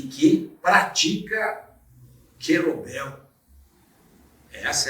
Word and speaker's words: kettlebell: Educação Física dá um rejuí e que pratica gelobel Essa é a pronúncia nos introduza nesse assunto que é um